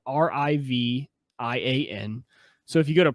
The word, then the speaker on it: Rivian: So there is a new kind of startup company that's starting up, and their new truck is, I believe it's pronounced Rivian, so Rivian.